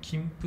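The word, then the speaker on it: 金峯: の金ね、金銀の金に峰と書いて、これで金峯と読むんですよ。金峯とか金峯じゃなくて、はい、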